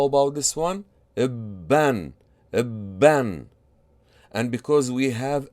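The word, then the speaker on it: بًّا: How do you pronounce this? Bin, bin. How about this one? Ibun, ibun. And how about this one? Ibban, ibban.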